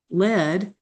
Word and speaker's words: lead: Now what surfaces often materializes on paper from rivers of ink or lead rhymes with said lead rhymes with fed by hand with pen or pencil in hand.